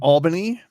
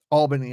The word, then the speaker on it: Albany: Albany, I guess would be the proper pronunciation.